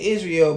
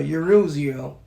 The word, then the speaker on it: Yisrael: That's to tell you that all the tribes the 12 tribes of is is they say Israel, but the it's really the 12 tribes of Yisrael.